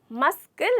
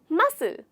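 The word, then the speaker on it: muscle: यहाँ पर हमारे एस के बाद जो सी है वो साइलेंट हो जाता है, साइलेंट हो जाता है। तो हमारे यहाँ पे साइलेंट लेटर है सी, तो हमें मस्कल नहीं बोलना, हमें बोलना है मसल।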